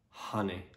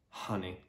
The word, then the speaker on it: honey: to pronounce it correctly the key is to pronounce correctly the first syllable and particularly the first vowel sound so it's honey honey with a r sound